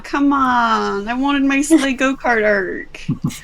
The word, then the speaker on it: Slayh: I'm assuming that it's spelled Slay as in like you're slaying a dragon rather than slay as in like you're riding a sleigh. It's actually spelled Slayh.